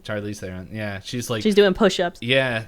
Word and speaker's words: Charlize Theron: up time, and then Charlie, I can never pronounce her last name, Theron. Oh, Charlize Theron. Charlize Theron.